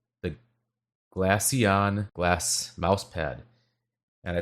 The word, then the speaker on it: Glaceon: This is called the Glacion. Glacion. Um, I'll spell it out. You'll see it in the title as well of the video. It's G L A C E O N. The Glassion Glass mouse pad.